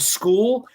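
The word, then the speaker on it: Skool: jeff the second single they dropped called hard school and that's spelled s-k-o-o-l dropped two or three days ago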